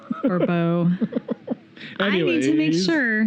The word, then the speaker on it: Barbeau: Damn that Barboa. I'm sorry. I need to look online and find out how to pronounce her name.